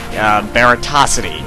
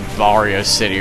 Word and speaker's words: Baratosity: Baratosity, yes. In previous videos, I've called him like Vario City or Barrio City. It's actually Baratosity. He corrected me on that, and I felt like such a weeaboo.